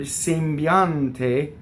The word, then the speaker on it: sembiante: So the E's in the word sembiante are both closed because they're not on the stress. The only stressed vowel is the ah.